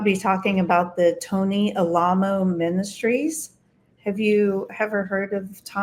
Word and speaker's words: Alamo: So Alamo is spelled as Alamo. So like remember the Alamo. Remember Alamo? Yeah. Buenos dias, y'all. But it's pronounced Alamo.